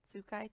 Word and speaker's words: Sukai: It's me, Sukai. Sukai. Sukaitod. Two D's. Sukai. Or. Not Skylar, not Skyla.